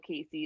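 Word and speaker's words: Kacie: you notice but uh my name is spelt k-a-c-i-e that is not how casey is supposed to be spelled just wrong a lot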